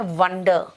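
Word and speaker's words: wonder: देखो यहां पे ए है लेकिन प्रोनाउंसिएशन आ रहा है वॉन्डर, और यहां पे ओ है लेकिन प्रोनाउंसिएशन आ रहा है वंडर, सोचना, आश्चर्यचकित होना।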